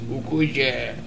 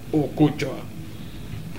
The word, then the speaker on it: Okocha: Y me vas a apostar, por favor, pronuncia bien mi nombre. No es Okocha, es Okocha.